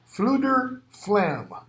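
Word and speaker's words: Fflewddur Fflam: Number five, Fluder Flam, Fflewddur, Fflam. Number seven, Achren, however it's pronounced, Achren.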